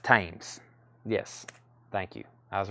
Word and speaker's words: Thames: okay so that's where we're at on those uh uh pronounced tames yes thank you I was raised in UK